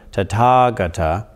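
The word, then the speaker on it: Tathāgata: ah on the other side if you put tata gata together by putting tata together with gutta well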